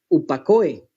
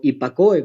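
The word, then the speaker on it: ὑπακοή: griego un término que es upakoe o hipakoe, como usted quiera pronunciarlo.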